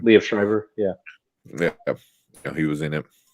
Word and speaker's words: Liev Schreiber: Was that Liv Schreiber? Was that right? Did I pronounce the name? Liev Schreiber.